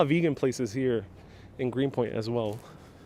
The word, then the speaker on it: Greenpoint: vegan places here in greenpoint as well janice says i should pronounce that those t t's green point there we